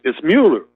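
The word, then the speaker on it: Mueller: mauler Muir no again nobody knows how to pronounce his name moot it's Muller but everybody calls him Muller but uh when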